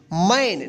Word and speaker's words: man: इसको क्या पढ़ेंगे आप, इसको मन नहीं पढ़ेंगे आप, क्या पढ़ेंगे, मैन, नहीं, आप इसको मान पढ़ेंगे।